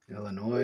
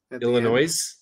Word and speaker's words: Illinois: the mistake once um pronouncing illinois with an s illinois don't do that don't do that like it's